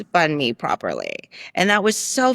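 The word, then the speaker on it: bánh mì: They would say bon me because it's spelled b a n h and there's a silent h. Okay. and it would be like this bon me and like and I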